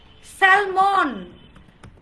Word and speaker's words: salmon: স্যালমন, স্যালমন। সবগুলোকে L letter silent করে পাশের লেটারকে স্ট্রেস দেন।